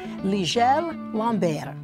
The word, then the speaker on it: Ligel Lambert: Here with us to explain all this is the CEO and founder of TAL Watches, Ligel Lambert. Did I say it right? That is correct.